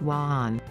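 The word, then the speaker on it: 晚安: Italian, buonanotte, b-won-on-note-teh, or Chinese, wanan, wa-an.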